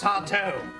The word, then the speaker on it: Sardo: That's Sardo. No, mister. Accent on the toe.